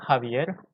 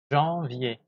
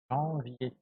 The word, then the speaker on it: janvier: Et les premiers mois, c'est pas Javier. Non. Javier. Non. Janvier. Janvier.